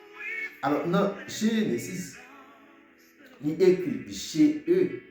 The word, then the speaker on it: Gênesis: Genesis. Muito bem. Ok. Cunha là, au fin prononcer, au fin apprendre ensemble avec nous comment on dit Genèse en portugais, qui c'est Genesis.